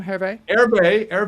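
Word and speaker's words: Hervé: to uh to um herve levy how do you say his name harvey our new general manager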